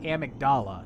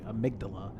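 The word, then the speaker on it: amygdala: A character this game pronounces it Amagdala, and I think that's incorrect. It's actually amydala.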